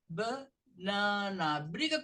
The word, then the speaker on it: banana: caso Aqui nós temos nós temos aqui a sílaba que soa mais alto banana banana se essa soma mais alto se uma sobe outra tem que descer então vai vai sair esse a você vai pronunciar o b e vai para o Nana então vai ficar banana briga com seu aluno